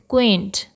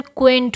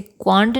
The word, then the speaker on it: क्वेंट: तो आज की हमारी वोकैब्युलरी का पहला वर्ड है क्वेंट। इसका प्रोनाउंसिएशन क्वेंट होता है। इसे क्वांट नहीं कहते हैं, क्वांट नहीं कहते हैं, इसे कहते हैं क्वेंट।